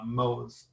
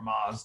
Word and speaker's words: Moz: they reported it to Moz, or Moz, depending on how you want to pronounce it, which is a search engine tool.